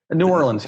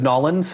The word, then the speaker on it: New Orleans: how do you how do you say it new orleans yeah you got it no idea some people some people will say new orleans uh okay anybody who says nolan's is is lying to you about his pronunciation